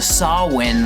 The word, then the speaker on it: Samhain: So, let's get into chapter six, which is titled Sawin Samsara, or if you're going to pronounce it wrong, Sam Hayne, Sam Sarah.